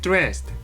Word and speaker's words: dressed: Get dressed. 네, 그 옷을 입어. Dressed. 네, 약간 드르는 즈르 같이 발음하시는 게 좋아요.